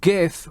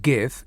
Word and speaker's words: GIF: It is not pronounced GIF. It's pronounced GIF.